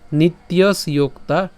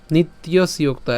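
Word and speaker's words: নিত্যস্যোক্তাঃ: ইয়োতা তাহলে উচ্চারণটা কেমন হচ্ছে অন্তবন্ত ইমে দেহা নিত্যসোক্তা নিত্যসক্তা এই সম্পূর্ণটি কিন্তু একসাথে উচ্চারণ করবেন নিত্যসোক্তা ঠিক আছে প্রথমত আপনারা ভেঙে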